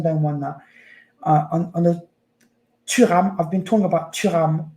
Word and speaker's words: Thuram: First of all, it's Kefrin Thuram, and it's Manu Kone. That's how you say it. And Benjamin Pavard. That's how you say their names. Not Thuram.